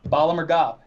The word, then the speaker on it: Bala Murghab: I feel like I'm going to mispronounce the battle in Bala Murghab. Bala Murghab.